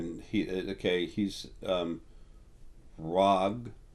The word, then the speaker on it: RH'AG: he okay he's um rag the H is silent it's RH apostrophe AG um rag he's um this got